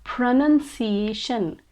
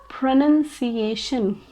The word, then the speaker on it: pronunciation: mispronounce this word actually they confuse this word with pronouns pronouns but the word pronouns has a noun in the middle but this word doesn't have a noun in the middle so it is pronounced as pronunciation pronunciation example pronunciation is very